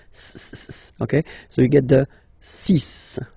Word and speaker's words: six: so you get the sis pronunciation s s okay so it's not six it's sis all right then here